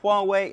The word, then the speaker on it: Huawei: look at that how would you think you pronounce that if you don't have any idea like I didn't it is Huawei and they are hoping you're going to remember